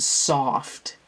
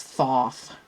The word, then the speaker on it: Thoth: Try to pronounce it extra because the auto subtitles will make it sound, will type in that I said soft, and it's not, it's Thoth.